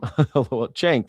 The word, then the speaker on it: Cenk: Cenk.